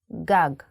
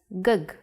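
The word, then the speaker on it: גג: If you were to see this word written, you might want to read it as gug.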